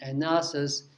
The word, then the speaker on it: analysis: is the verb and analysis is this is analysis is the noun so they they pronounced differently even though the spelling